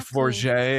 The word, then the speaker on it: Forget: Forget, and I'm like, wow, like I feel fancy.